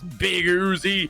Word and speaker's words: Big Uzi: But speaking of Boozle, Big Uzi, who is on the team, it's always I've always pronounced it Boozle, but I know it's Big Uzi.